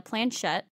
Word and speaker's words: planchette: What it comes with is a little teardrop-shaped device called a, I don't know how to fucking pronounce it. Planchette.